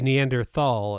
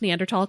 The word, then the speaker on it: Neanderthal: you when I say Neanderthal and you say neander tall it's generally pronounced neander tall because it's a German word yeah I call it